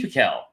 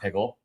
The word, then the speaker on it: Pickell: JD Pickell. I'm pronouncing that right. It's not Pickle.